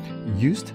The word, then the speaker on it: Joost: Joost de Valk, and I'm going to spell that J-O-O-S-T, is so famous that he's become known by a single word. It's almost the English pronunciation of his name, nickname.